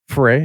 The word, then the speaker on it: Frey: This is John Carlos Fere. Is that correct? I pronounced your last name correctly.